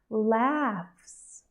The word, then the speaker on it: laughs: fruits fruits safes safe laughs laughs laughs graphs graphs here I've included these words because they have different spelling we have a GH and a pH but they actually say f so it's going to